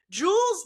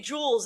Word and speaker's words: Jules: I say Jules Gounon, which is correct, but I say Jules if I'm saying Jules in isolation. I don't know why I do. It must be Duolingo. The stupid owl has me saying it correctly, because I am doing French.